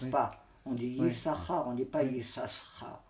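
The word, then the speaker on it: יששכר: Malgré qu'on ne le prononce pas, on prononce seulement une lettre.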